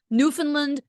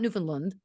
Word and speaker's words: Newfoundland: there have told me you hit land it's not Newfoundland oh yeah it's Newfound